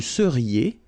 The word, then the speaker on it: seriez: Vous seriez. So here when you've got this Z at the end, then you get the sound E, seriez. So vous seriez, okay?